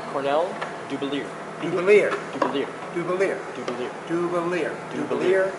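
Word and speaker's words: Cornell Dubilier: which by the way is pronounced Cornell Dubelier.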